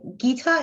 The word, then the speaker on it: Gita: It's Gita is very easy to pronounce, but you know, since I first went to France and I were there, so the spelling became G-U-I-T-A because G alone means sounds Gita.